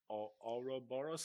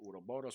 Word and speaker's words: Ouroboros: he's releasing a role playing game called Ouroboros. I'm not sure how to pronounce it. yes, Anyway, you did pronounce it correctly. did I? I Oh, think. How would you? Yeah, good for me. Ouroboros.